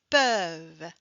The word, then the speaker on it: peuvent: Mais euh pour vrai la grammaire, on ne devrait pas prononcer euh le t à la fin.